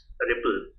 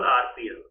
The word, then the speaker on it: RPL: protocol is rpl okay it is pronounced as ripple or you can simply call rpl or you can say